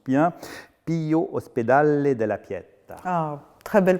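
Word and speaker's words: Ospedale della Pietà: du 18e et plus particulièrement l'institution si je prononce bien Pio hospedale de la Piette ah très belle prononciation alors déjà Venise Venise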